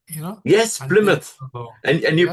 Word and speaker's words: Plymouth: That was in the Plymouth, you know, Yes, and then, Plymouth. And you yeah, pronounced it correctly.